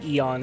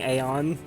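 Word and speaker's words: Aeon: like Caesar versus kaisar Eon is technically a little bit more correct than Aon oh I misspoke I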